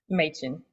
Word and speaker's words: Machen: Machen, Machen. See, I was going to go with the and not the A, like the right? Machen. Yes. Yeah. Well, that's the German last name pronunciation.